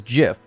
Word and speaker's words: GIF: he has in that gif but it's like and he does like the white people smile yeah is GIF with the J all right I say it like how the creator of gifs said that it's [ __